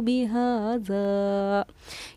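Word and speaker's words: بهذا: अम कुंतुम शुहदा इज़ वस्साकुमुल्लाहु बिहाज़ा, ये ज़ाल है, ये ज़ा है, ये ज़ाल है, इसमें कोई वाइब्रेशन नहीं होना है, सिंपल इसको बिहाज़ा, बिहाज़ा।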